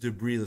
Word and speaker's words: debris: But we pronounce it debris like destrozos. Yeah. debris debris, no S, debris Ah, debris, we don't Yeah, no, yeah, no S sound. There's an S but no S sound.